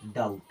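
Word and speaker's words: doubt: क्या सुने हैं डाउट कई बार स्पेलिंग हम लिखते हैं तो डी ओ यू टी लिखते हैं क्योंकि बी तो साइलेंट है और हमें पता ही नहीं चलता अब इसको हम नहीं पढ़ेंगे क्योंकि इसके बाद में टी आ गया इसे क्या पढ़ेंगे डाउट उसके अलावा और कई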